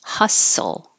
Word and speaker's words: hustle: a d subtle and hustle we don't use the T at all you're going from the s to the L Hustle which is similar